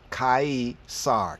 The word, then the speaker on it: Caesar: spelled differently as c-e-s-a-r from the c a e Kai SAR kaisar so it's Cesar Cesar quesar kasar kasar from kaisar originally a surname of